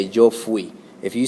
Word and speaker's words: fui: It's not fui, like fui. It's fui. Kind of pronounce it like, put an F in front of the word we, and you get fui.